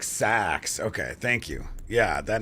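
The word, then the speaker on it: seax: It's pronounced like sax.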